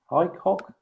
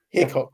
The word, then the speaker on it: Hickok: Is that really how you pronounce his name? Highcock? Not Hickok? Hickok, yes. Hickok.